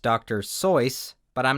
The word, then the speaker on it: Seuss: it that way and geisel himself eventually switched to the anglicized version dr seuss was one